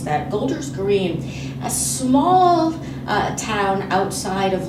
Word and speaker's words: Golders Green: first rabbinic appointment as the rabbi for the golden grier golden gold er green a synagogue in London I knew I was going to mispronounce that Golders Green a small town outside of London and predominantly